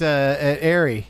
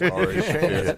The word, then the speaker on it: Ari: I think we left off at Airy. Yeah. It's pronounced Ari, actually. It's Ari.